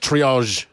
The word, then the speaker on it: triage: It's pronounced triage.